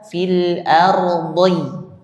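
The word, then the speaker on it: الأرض: Jadi kalau misalnya mengucapkan fil ardi fil ardi nah dy diy gitu Pak dibacanya bukan langsung di fil ardhi ah di ah itu bisa tertukar dengan huruf dal sama jadi ada sin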